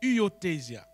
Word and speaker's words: huiothesia: Le mot grec qui a donné adoption, c'est huiothesia. Huiothesia. Ça s'écrit H-U-I-O-T-E-S-I-A.